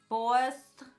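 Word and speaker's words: Bawse: using the huda beauty bossed boy my boss like you're someone's boss but it's spelled BA wse so you're a boss with a little bit of a New York accent in there um and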